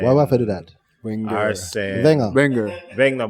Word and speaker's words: Wenger: Wenger, but they'll say Wegner or something like that, right? Just completely mispronounce the name because they're just not necessarily familiar with the term.